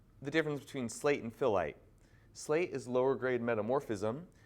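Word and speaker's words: phyllite: next rock type being what is known as filite I know it's a strange word but that's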